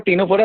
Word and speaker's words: Ctenophora: जैसे सामने आपको जो डायग्राम दिख रहा है वो टीनोफोरा का है, और टीनोफोरा सी से होता है, ठीक है ना। सी साइलेंट है, ठीक है।